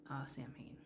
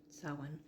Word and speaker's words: Samhain: But yeah, but it's not pronounced Samhain. Samhain. Again, it's Irish.